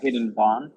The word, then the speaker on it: Vaughan: How do you pronounce it? Hayden Vaughn. Hayden Vaughn.